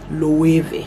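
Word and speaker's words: Loewe: w e body w i think they pronounce it as v this is what it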